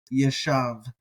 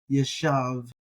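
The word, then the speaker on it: יָשַׁב: Now, on the docket today for our vocabulary term, we're thinking about the Hebrew word that is spelled Yod, Shin, Beit, Yeshav. Yeshav.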